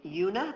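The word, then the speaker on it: Juna: And there's another young woman named Yuna, that's spelled J-U-N-A, and her story is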